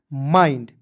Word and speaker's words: MIND: IND है दोस्तों, तो इसका उच्चारण आइंड के रूप में करेंगे। ठीक है, तो क्या हो जाएगा दोस्तों, MIND को पढ़ेंगे दोस्तों माइंड।